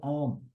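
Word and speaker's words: ॐ: m né então a quando você pronuncia a combinação de a com u faz om então ele simplesmente diz quando você pronunciar pronuncia om e om significa a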